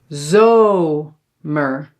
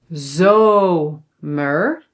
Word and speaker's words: zomer: And then there are other words where you see that the syllable is open, like these three and then you have to pronounce it long.